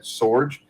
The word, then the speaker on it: Sorge: lot of different pronunciations it's actually fairly simple you were spot on at Sorge it's actually German I am mostly Irish